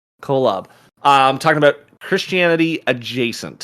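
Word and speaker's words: Kolob: uh with a little how do you say it again the planet colab is it yeah k-o-l-o-b colab i'm talking about christianity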